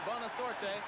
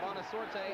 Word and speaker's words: Bonasorte: He's down to the 16-yard line before Bonasorte, with help from Carter, was able to stop him. I said Bonasorte. I should say Bonasort. The E is silent.